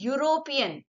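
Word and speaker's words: European: क्योंकि यह इ का साउंड क्या है? यूरोपियन।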